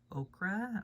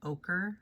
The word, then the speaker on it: ochre: a dark uh or okra or or i know i know i'm saying that wrong because okra is a vegetable but ochre i think is how it's pronounced um and then the